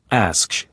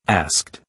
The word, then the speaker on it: asked: For example, some people pronounce asked as asksh instead of asked.